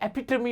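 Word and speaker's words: epitome: ये एपिटॉम नहीं होता, ये एपिटमी होता है।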